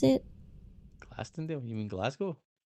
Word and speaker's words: Glasgow: How do you pronounce it? Glastonale. You mean Glasgow? Glasggo. Glasgow. Glasgu.